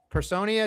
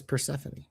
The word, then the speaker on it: Persephone: Then why don't they just spell it like Stephanie? Persephone. Her name is Persephone.